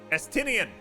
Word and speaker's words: Estinian: I can't remember how to pronounce his name. Estinian, that's it, Estinian.